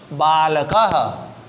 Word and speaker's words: बालकः: तो जिस लेटर के बाद ये लगा है अह का उच्चारण हम करेंगे। ध्यान दीजिए, बालकः, बालकौ, क पे औ की मात्रा है, बालकौ, बालकाः।